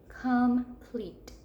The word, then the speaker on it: complete: hand under our chin come pleat come pleat so where do we hear that long e complete in that second syllable so I'm sorting my words I'm going to say I hear that long e in the second syllable that's where that e